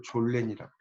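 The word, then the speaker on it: Sollen: 그럼 있어야 하는 현실은 이거는 독일어로 졸렌이라고. 이렇게 발음을 써놓으시면 좀 이해가 쉬워요.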